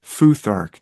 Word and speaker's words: futhark: runes, but the arrangement, the first several runes spell out foothark, just like you could say awerty keyboard because our arrangement of the keys on a on a typewriter would start with a K and then have a W. So it was awerty. This is foothark.